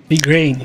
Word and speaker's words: Igraine: Igraine, essa é a pronúncia.